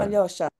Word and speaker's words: Alyosha: a lot of people can't pronounce it because there's no such soft yaw in the language. It's like an E with two dots. Spell it YO, but then they called me Alyosha or Alosha.